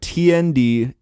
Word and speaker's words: tndislhc: Yeah, I call it tndislhc because that way you got the three letters on either side, and it sounds like it's somewhat coherent.